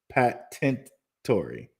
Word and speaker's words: Patientory: It's pronounced patentory or patientory. You know, I would go say patientory, probably patientory. Patientory. Thank you. Thank you. I would say patientory.